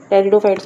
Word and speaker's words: टेरिडोफाइट्स: टेरिडोफाइट्स में आपको पता है पी आपका साइलेंट होता है।